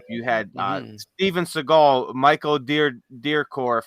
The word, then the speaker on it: Dudikoff: You had Steven Seagal, Michael Dudikoff. I think that's how you say it, Dudikoff or something like that.